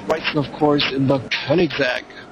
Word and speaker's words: Koenigsegg: And Mike Wrightson, of course, in the Koenigsegg. Oh, I really should pronounce it the German way, Koenigsegg. That's the way to pronounce it, actually, folks, Koenigsegg.